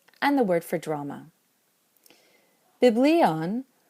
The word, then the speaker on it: βιβλίον: Biblion wants to keep an acute over the iota in the second to last syllable.